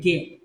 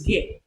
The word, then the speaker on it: gear: head gar or head gear that word is not GE it's gear even in the car